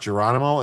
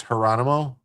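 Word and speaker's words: Gerónimo: That J is an H sound. So it's not Geronimo, it's Geronimo.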